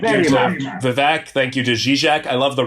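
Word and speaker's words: Žižek: Mine is Zizek, Vivek. It's not Zizek or what, so it rhymes even more than it may appear.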